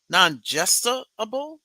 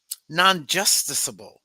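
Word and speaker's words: nonjusticiable: findings that partisan gerrymandering is nonjust nonjustable. I'm not even pronouncing that correctly. Um, nonjusticeable. I got to look that word up y'all cuz she got me there.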